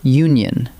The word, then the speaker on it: union: Now flip it around with the word union. It starts with the letter U, a vowel. Yet it opens with a U sound, which counts as a consonant sound. So we say a union and never an union.